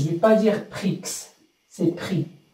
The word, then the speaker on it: prix: Je ne vais pas dire prix, c'est prix. On ne prononce pas le X à la fin.